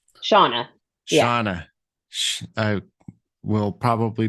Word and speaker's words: Shauna: Shauna. Yeah. Shauna. I will probably make that mistake again. That's fine. It's spelled a little funky.